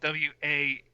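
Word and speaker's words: Wanke: to be clear it's his name is spelled w-a-n-k-e could be wanky and they never like they never say his name in the movie but clearly it's wank okay next side character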